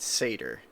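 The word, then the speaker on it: Surtr: that a little differently we tend to pronounce that Seder because asserter is a fire demon from Norse mythology I know of certain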